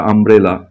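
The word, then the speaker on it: umbrella: অনেকে ভাবতে পারো ইউ তো ইউর মতোই উচ্চারণ হবে, কিন্তু অন্য উচ্চারণ হয়, দেখো ছাতা যেটা আমব্রেলা, ইউ এম বি আর ই ডবল এল এ, তো এখানে ইউ থাকা সত্ত্বেও উচ্চারণটা কিন্তু আম আসছে, তো এখানে কিন্তু অ্যান বসবে।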